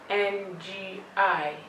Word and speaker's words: ngi: Careful when pronouncing the ngi. You can use your phonics key by pronouncing it ng, I, ngi.